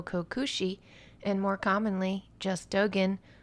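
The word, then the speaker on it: Dōgen: I Dogen Koso Joyo Daishi or Busho Dento Kokushi and more commonly just Dogen, although I've also heard it pronounced Dogan and Dojan was born in the year 1200 and died in 1253.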